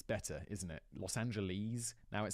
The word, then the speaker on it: Los Angeles: in Los Angeles California I used to pronounce Los Angeles Los Angeles because that's how British people say it and I everyone was